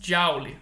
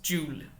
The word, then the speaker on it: Joule: Mas o fato é que a forma correta de se pronunciar o nome dele não é James Joule, mas James Joule.